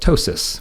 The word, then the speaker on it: ptosis: And that's oftentimes somebody had something called ptosis, with a funny word that starts with a P, where the P is silent, but one eye is a little bit smaller than the other.